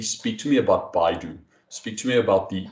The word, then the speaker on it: Baidu: to formulate it correctly speak to me about baidu speak to me about the the chinese google about are we going to be using that how does it work just very briefly so baidu is the chinese google right and and the